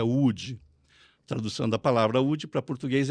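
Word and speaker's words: Łódź: a cidade de UD que o povo chama de lodes quando por causa da tradução em inglês então fala lodes mas a pronúncia é UD tradução da palavra para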